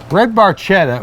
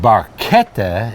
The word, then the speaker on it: barchetta: red barchetta by Rush barchetta or red barchetta if you say it properly in Italian was the story that